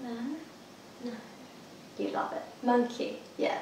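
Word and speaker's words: Monki: Monkey. Yeah, it's spelled M-O-N-K-I.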